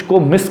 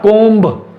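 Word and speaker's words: comb: सो कोम, नॉट कोम्ब, ब नहीं आएगा, बी नहीं आएगा।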